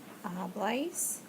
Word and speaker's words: habláis: Habláis. Accent on the A because it's an AR verb.